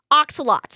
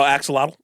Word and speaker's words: axolotl: little what are those what are those little oxalates is that what they're called oh Axolotl is that how you say it axolotls whatever excellent